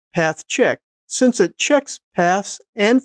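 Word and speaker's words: pathchk: I actually just go ahead and pronounce it path check, since it checks paths and files to see if they will work on most POSIX systems.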